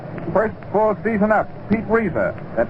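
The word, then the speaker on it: Reiser: Pete Reza, that name is R E I S E R. Reza in center, D Camelly, the home run leader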